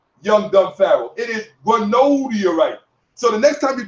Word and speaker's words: granodiorite: It is granodiorite, not granadiorite.